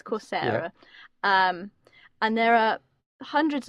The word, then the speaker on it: Coursera: I never know how to say it, but I think it's Coursera.